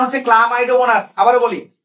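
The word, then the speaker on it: Chlamydomonas: কতগুলো এককোষী সুকেন্দ্রিক জীবে, যেমন সালামাইটোগোনাস, আসলে উচ্চারণ হচ্ছে ক্লামাইডোমোনাস।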